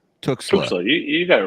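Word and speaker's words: Tuxtla: Talk to us a little bit about there's also and I always butcher the pronunciation, but Tuxla. Tuxla.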